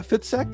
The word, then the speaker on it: Fitzek: and on zoom i have a sebastian uh fitsec did i pronounce that right yes totally right thank you